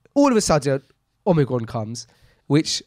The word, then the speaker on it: omicron: all of a sudden omigron comes which apparently the correct greek we're pronouncing here is omigron omigron i was calling it omnicron why omni no you